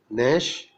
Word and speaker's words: gnash: In GN, G is silent, as in resign, consign, benign means kind, foreign, gnaw, GNAW, that means bite, gnash means strike teeth, as in anger.